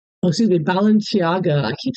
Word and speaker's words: Balenciaga: And then on top of that, again, the more Satanism, she goes to a B a Balenia, oh, excuse me, Balenciaga. I keep saying that name wrong.